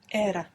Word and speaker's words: era: is an era and if we pronounce era as if it was Spanish we get era era and that's the line